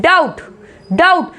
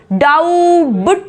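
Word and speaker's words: doubt: इसी को यहाँ पे डाउट, डाउट, डाउबट नहीं बोलेंगे, डाउबट, ऐसे बी कहीं तक आवाज नहीं आएगी इसमें।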